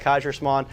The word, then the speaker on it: Kaiserschmarrn: That's what it's called, Kaiserschmarrn.